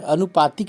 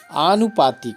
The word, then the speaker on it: आनुपातिक: अनु अनुपातिक कहते हैं अनुपातिक नहीं होता है आनुपातिक होता है आ की मात्रा अनु पातिक आनुपातिक इसी